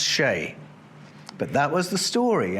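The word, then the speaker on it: sìth: Back in his day, it wasn't pronounced Sith. It was spelled Sith, but pronounced Shay.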